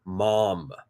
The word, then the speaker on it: mom: The Brits, the Aussies, the New Zealanders, we all say mum, M-U-M. That's the pronunciation. Americans will say mom, M-O-M, how it's spelled.